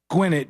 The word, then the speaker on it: Gwinnett: And real quick, Janine said, Sean, I don't know who the guy from Georgia is that emailed, but it's pronounced Gwinnett just like it's spelled.